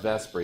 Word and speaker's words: VSEPR: And it's pronounced VSEPR, even though that's not really what it should be pronounced like, but whatever.